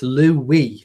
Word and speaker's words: Louis: We pronounce both spellings the same way. Well, I've just so you know, it's Louis.